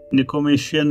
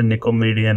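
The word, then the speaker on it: Nicomachean: These five intellectual virtuous निकोमेशियन ethics है इनकी. मैं इसको कभी सही प्रोनाउंस नहीं करता था, मतलब आई डोंट नो ये भी सही प्रोनाउंस है या, लेकिन मेरे मुंह से हमेशा निकोमेडियन निकलता.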